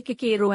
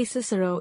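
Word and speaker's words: Cicero: nonsense in my opinion making boys say KIRO at school when for the rest of their lives they'll say cisero if they ever say it at all and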